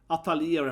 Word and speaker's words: Atelier: Atelier, how it's pronounced.